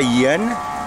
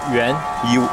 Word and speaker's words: yuan: How do you say yen? Yuan.